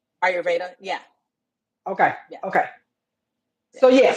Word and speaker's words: Ayurveda: Now, am I pronouncing it correctly? Ayurvedic? Ayurveda.